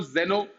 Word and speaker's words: xeno: Then xeno, zeno, there is difference in pronunciation. Geno, geno is geno, है ना. xeno is zeno.